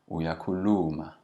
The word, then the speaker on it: uyakhuluma: Notice how in general when we say something in Zulu, we emphasize and lengthen the second last syllable. So if my sentence or my utterance ends with uyakhuluma, I'm going to lengthen that second last syllable to uyakhuluma. Ukhuluma isibunu. It's always the second last syllable that's lengthened.